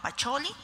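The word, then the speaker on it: Pacioli: nos tuvieron que decir que se pronunciaba pacholi Pero sabemos que es Luca pacholi vemos una imagen y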